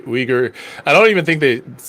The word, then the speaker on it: Uyghur: yeah but uh uyghur is that how you pronounce it oh oh igor uh like uh it's closer how you say like soy or like oi like more closer it's not not exactly but yeah not not weaker how most uh western